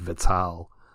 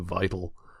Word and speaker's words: Vital: at the top that I have always pronounced it Vittal as opposed to vital and that's because of